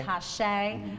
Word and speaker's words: Tashay: Tashay. Tashay. And it was pronounced really, excuse me, it's written uniquely, so I wanted to make sure I pronounced it correctly.